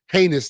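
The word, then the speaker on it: Ginés: Uh we went to the Churro and Porus uh shop with or heinous they call it G I N E S but it's it's pronounced heinous.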